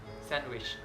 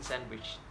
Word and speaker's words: sandwich: for example Wednesday handsome sandwich I'm not pronouncing they in sandwich but I'm just financing